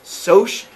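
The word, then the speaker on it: Socs: And so it looks like sock, but it's actually short for social. Sometimes they're going to spell it S-O-S-H for Soch, which are like the rich kids.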